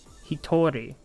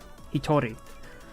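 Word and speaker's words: 一人: done the kanji too hitori pronounced hitori the kanji stays the same throughout he told me the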